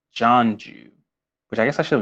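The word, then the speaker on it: Jianzhu: was poisoned by by gianju oh actually i meant to say his name's actually pronounced john jew which i guess i should have known that and not jeonju john's you i feel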